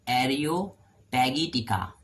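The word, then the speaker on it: Areopagitica: हु रॉट एरियोपैगिटिका, इसको pronounce करेंगे हम एरियोपैगिटिका, ये किसने लिया है?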